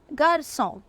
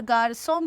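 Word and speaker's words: garçon: तो सेदील में क्या होता है, अगर सेदील लगा है सी के नीचे तो कोई भी वॉवल हो सी की स साउंड ही होगी, राइट।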